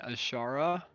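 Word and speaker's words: Azshara: Interesting also, Bite Size is running Queen Ashara. That's how you Yeah.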